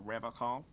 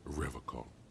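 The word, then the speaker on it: Revachol: to stay strong for Revol he pronounces Revol with a hard K unlike other people I like to pronounce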